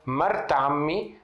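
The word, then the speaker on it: مرة عمي: Então esse tá marbuta, ela vira a letra T de pronúncia.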